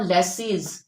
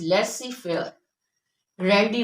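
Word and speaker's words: laissez-faire: हम कैसे प्रोनाउंस करेंगे लेसी फेयर लेस इट इज नॉट लेसीस इट इज लेसी फेयर वस वर्स तो यही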